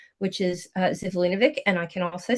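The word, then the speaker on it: Živojinović: pronounce Alex Lifeson's real last name, which is Zivlinovic, and I can also spell it, but I'm not going to, because he's a child of Hungarian immigrants.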